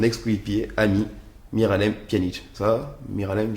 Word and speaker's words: Miralem: ami Miralem Pjanic ça Miralem j'ai bien prononcé très bien mir VO bien mais